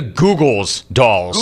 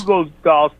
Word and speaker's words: Goo Goo Dolls: name Larry Google doll they're not the Googles dolls Google dolls goooo I mean yeah it's